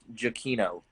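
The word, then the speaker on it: Giacchino: of space mountain his last name was actually pronounced jaquino okay tom i've heard it pronounced on television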